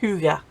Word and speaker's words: hygge: Now if you don't know what Hygge is, it's spelled Hygge, but it's pronounced Hygge, and it's a Danish, it's like a way